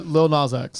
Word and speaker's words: Lil Nas X: pronounce his name officially? Lil Nas X.